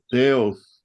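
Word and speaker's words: θεός: ¿Cómo se pronuncia Dios en griego? Dios, Teos, correcto.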